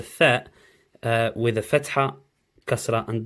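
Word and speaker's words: ثاء: I'll write down how Tha would look, but if I do it now quickly, just up in this corner, T-H-A-E, Tha. Instead of a the sound, T-H, the sound, it's not rubbing out properly.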